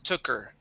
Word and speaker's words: took: try uh that child took her okay so we do need to pronounce that K all right so that